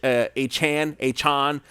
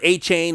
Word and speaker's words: Achane: I've been hearing that it's Achane. We heard A-Chain. That's not the truth anymore. It seems to change every other week. But right now, it's Devon Achane.